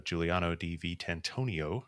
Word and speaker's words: Giuliano Di Vitantonio: uh I want to thank Our Guest uh Giuliano d v tantonio did I say it correctly that time perfect